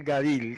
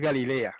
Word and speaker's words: Galil: o salir para el Galil, que es una región que se llama el Galil. No es Galilea, un momentito. No es Galilea como traduce las versiones españolas. Esa región se llamaba Galil, el Galil.